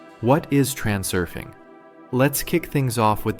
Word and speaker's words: Transurfing: Note, it's transurfing. Plain and simple, just as it's spelled, no twists or tweaks.